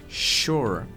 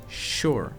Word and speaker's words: sure: gente escuta por exemplo na palavra shower shower sure então cuidado aqui para não suar com o s s como em House mas é um s como se ele tivesse um ch ou um S H mas que não tá na grafia da palavra né É mesmo s r e sure E aí ele vai